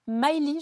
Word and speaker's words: Myli: de votre histoire puisque vous allez commercialiser là Miley je le prononce bien tout à fait Maëly donc qui est une petite voiture électrique sans